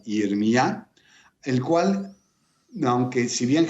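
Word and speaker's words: ירמיה: Es muy curioso poder hablar también del nombre de Jeremías, pronunciado en hebreo como Yirmiyá, el cual, aunque si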